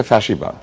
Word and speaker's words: ফ্যাসিবাদ: ফ্যাসিবাদ সব এটার আসল উচ্চারণ হচ্ছে ফ্যাসিবাদ। ফ্যাসিস্ট কিন্তু আমরা এটাকে ফ্যাসি বলি। কারণ দন্তস দিয়ে বানান করার কারণে।